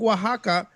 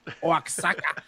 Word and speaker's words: Oaxaca: The X is a J, not silent.